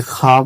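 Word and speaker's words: خواب: यानी औ का उच्चारण नहीं उड़ रहा है।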